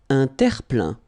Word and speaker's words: terre-plein: Un terre-plein. Un terre-plein. Remember this E-I-N nasal.